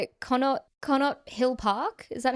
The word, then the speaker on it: Connaught Hill Park: Connaught Hill Park? Is that how you pronounce it? Yeah, it's better. Connaught Hill Park.